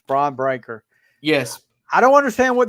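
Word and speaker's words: Bron Breakker: It's Braun Breaker.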